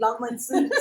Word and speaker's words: Lagmanson: Lagmanson. Sorry. It's the Swedish pronunciation.